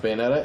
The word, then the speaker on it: Bayonetta: we have Bay although that one's pronounced bayetta and bouta if they